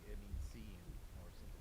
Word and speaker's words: Sean: No, the name Sean. I pronounce it as scene. Mm. Cause it's like Sean?